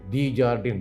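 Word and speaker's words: Desjardins: This instrument is there, lithotomy forceps, D-Jardin, D-E-S-J-A-R-D-I-N, S is silent, lithotomy forceps also there.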